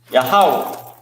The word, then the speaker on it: Yahweh: Yahweh. What does Yahweh mean? All right, because this is the Hebrew word for where we're at right here. Yahweh.